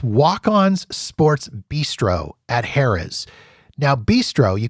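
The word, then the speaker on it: Bistreaux: up it's Walk-On's sports Bistro at Harrah's Now Bistro you can tell it's fancy because they don't spell it b-i-s-t-r-o they spell it b-i-s-t-r-e-a-u-x so it's a bistro French I don't know anyways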